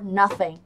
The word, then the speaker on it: nothing: I made a trip for nothing. I made a trip for nothing. Các bạn cùng phát âm theo mình. I made a trip for nothing. Nothing. Le lưỡi ra giữa hàm răng nhé.